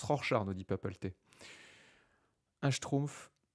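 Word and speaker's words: Rorschach: qu'est-ce que vous voyez rorchard ça se prononce rorchard nous dit PAP un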